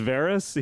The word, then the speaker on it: Varys: Varys.